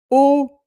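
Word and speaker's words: eau: Plantas then o which is water. A E A U which is in French pronounced O like B um B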